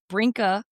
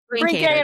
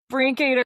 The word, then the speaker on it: Brinkader: And with us today, I am so blessed to have Brinka. Oh, I said it wrong. Brinkador? How do you say Brinkader. it? Brinkader. Brinkader. Okay. There you go. Brinkader.